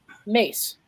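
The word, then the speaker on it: Myss: very special gift and her name is Carolyn mace it's spelled miss m-y-s-s most of you probably know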